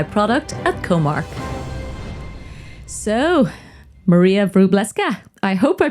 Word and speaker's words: Wróblewska: director of AI product at comark so Maria bresa I hope I pronounced your name correctly welcome to let's talk